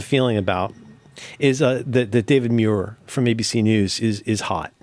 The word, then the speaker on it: Muir: he has a feeling about is that David Muir from ABC News is hot.